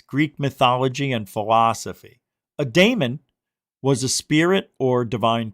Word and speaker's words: daemon: That's how it's pronounced, daemon.